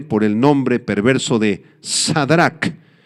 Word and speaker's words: Sadrac: A este jovencito Ananías le cambiaron el nombre por el nombre perverso de Sadrach, el nombre babilónico Shedrach, así se pronuncia, significa real, o también